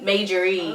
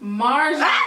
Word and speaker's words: Marjorie: They were like at a brunch with like Steve and Majorie. Like, yeah. Majorie? That's not her name. Marjorie.